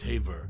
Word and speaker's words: Haver: sphere actress June Haver whose surname is pronounced Haver had a diverse and